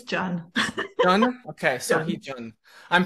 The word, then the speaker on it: Jun: Pacheco and today with me I have June uh did I pronounce that right I think ah ish it's John John okay I'm pronouncing it okay I I